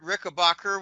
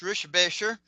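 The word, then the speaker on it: Richebächer: Um, I've actually met Kurt Ricker, which is actually pronounced Rishbasher. Kurt Rickabbacher, the German um a year before I started the newsletter.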